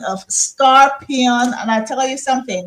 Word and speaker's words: Skarpyon: Well, it's Skarpyon. You know what I mean? Skarpyon. Yeah, just Okay. like, but the only difference is that you cannot put the lingo of scorpion.